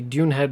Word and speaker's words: Dunehead: Reginald, who works out of the Dunehead mine... Oh, that's interesting. This is spelled without an S, so it's Dunehead rather than Dune's Head, as it is on the map.